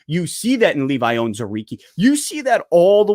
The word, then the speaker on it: Onwuzurike: But I believe his last name is pronounced Onwuzurike.